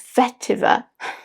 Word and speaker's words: vetiver: How did I even pronounce it? It's vetiver.